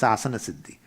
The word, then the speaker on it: asana siddhi: posture for 48 minutes they call it as a Asana City we don't require but that's how they say it's Asana siddhi if you sit for